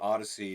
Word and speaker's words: ODY-C: He did a book called Odyssey, which is spelled ODY-C, with Brandon Graham.